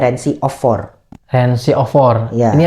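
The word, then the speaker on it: Rency of 4: tulisannya tuh R E N C Y of4. Jadi, bacanya Reni of 4.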